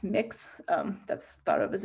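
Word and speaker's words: Mx: replaced with gender neutral term uh which is pronounced mix um that's thought of as a gender neutral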